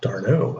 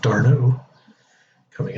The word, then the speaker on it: d'Arnaud: So Travis d'Arnaud, I think that's the way he pronounces it now that I'm figuring it out. d'Arnaud coming up, trying to cool down Giolito.